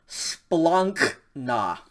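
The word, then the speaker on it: σπλάγχνα: vowels or entrails and it's pronounced splunk nah splunk nah that ink sound again if it's just too difficult or it just sounds too um you know kind of yucky to make that uh rolled t sound it's probably fine if you just pronounce this like a really hard k like a very aspirated kh sound so is probably fine too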